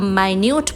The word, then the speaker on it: minute: लेकिन इसी spelling MINUTE को जब माइन्यूट बोला जाता है तब इसका अर्थ होता है बारीक या सूक्ष्म। बारीक या सूक्ष्म।